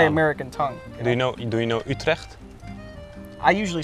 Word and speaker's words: Utrecht: Do you know Utrecht? I usually say Utrecht. It's Utrecht. Utrecht. Utrecht. Okay. It's like 10 minutes from it. It's like the suburbs from Utrecht.